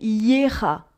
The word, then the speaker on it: Gera: Normalement, c'est Yera. Mais cette rune s'écrit Gera.